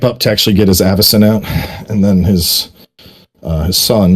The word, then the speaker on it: Avacyn: Wait, it's Avacyn? Not Avakin.